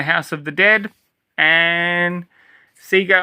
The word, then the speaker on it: Sega: I'm going to pronounce it Sega because this is an Australian release. Um, that's how we always called or that's how we always pronounce the name, but of course, other people call it Sega, but Sega Oussoft.